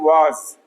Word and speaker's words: vase: Okay, basically its right pronunciation is vase, but vase बोलेंगे बार बार confusion होगा.